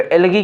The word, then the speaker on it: algae: तो एल्गी क्या होता है? एल्गी, ये दोनों वर्ड स्पेलिंग है, ALGAE होता है, ALGI लिखा हो, चाहे जो लिखा हो, एल्गीसाइड होगा।